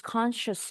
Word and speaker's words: conscious: pingsan terus sadar She's conscious now. Conscious. So remember it's not S here but a sh.